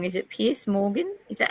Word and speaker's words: Piers Morgan: before, and correct me if I'm pronouncing his name wrong. Is it Piers Morgan? Is that how you say his name? Yeah. Yeah, Piers Morgan.